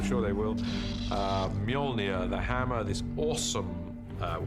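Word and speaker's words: Mjölnir: is to work out how to pronounce it which is molnia uh in our movie at the moment until somebody corrects me I'm sure they will uh molia the hammer this awesome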